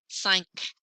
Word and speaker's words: cinq: They might get pronounced like C, R, F, L, but a couple other ones too, like the letter Q in cinq. You do hear that K at the end.